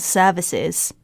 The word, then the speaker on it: service: Because after a long vowel, most of the cases after a long vowel in a British pronunciation and in RP accent, the R will be silent and will not be pronounced.